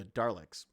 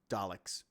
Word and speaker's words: Daleks: who created the the darlix i say darlix i say it wrong but daleks um and i've always